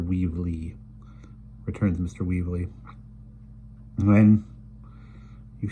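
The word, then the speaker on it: Weevle: And we'll pronounce this the way it's written. It's Mr. Weevely, returns Mr.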